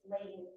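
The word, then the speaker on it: Lang: I did mispronounce his name. I do apologize. This is where his name is Lane, L-A-N-G.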